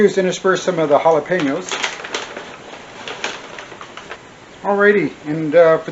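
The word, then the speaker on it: jalapeño: how to pronounce it it's Hal laeno jalapeno and I'm should be putting right where is it right here it should say the way to pronounce it ha laeno halap Peno that's it nothing fancy just real straightforward jalapeno so ha ha la la you know La pen like a writing pen a writing instrument yo halap Peno right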